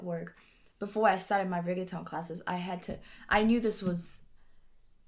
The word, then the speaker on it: reggaeton: And that meant, okay, I grew up listening to reggaeton, which is how you say it, as a